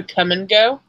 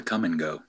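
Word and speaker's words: Kum & Go: What's a come and go? It's a gas station chain based out of Des Moines, Iowa. It's real. It's real. It's spelled KUM ampersand GO.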